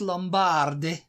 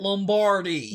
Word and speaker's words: Lombardi: winner receives the Vince Lombard trophy what how do you say it Lombardi Vince Lombardi it's Lombardi what I'm from okay